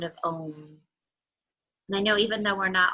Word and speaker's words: Om: So we'll chant together the sound of one Om, which has 3 syllables, ah, oo.